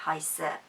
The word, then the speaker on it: heiße: So the heiße is with quite a sharp S, ich heiße.